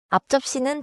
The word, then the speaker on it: 앞접시: 앞접시는 글자 그대로 천천히 읽는 것보다 자연스럽게는 앞에 소리가 짧게 앞처럼 나고 접시가 조금 세게 들립니다. So I shouldn't overpunch the P. More like 앞접시 in a quick restaurant rhythm.